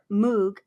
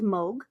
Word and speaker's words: Moog: So it looks like it's Moog, but it's actually pronounced as Moog.